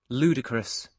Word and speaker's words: ludicrous: to remind them that this little apostrophe means that the first syllable will be stressed, and then this is the long U sound, and then the schwa sound, which appears twice.